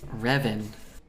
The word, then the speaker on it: Revan: didn't yield any uh results I needed it's pronounced Revan it's from the books which aren't Canon oh